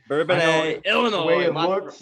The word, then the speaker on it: Bourbonnais: It's Bourbonnais, Illinois. Okay, all right. I know I So stumble, I stutter. I'm not very good at know, some of those, but Bourbonnais. Bourbonnais, Illinois.